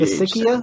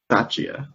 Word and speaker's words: Bisaccia: How do you know how to pronounce his last name? I think it's with like a CH. Basikia? I thought it was Pistachia. Bisaccia.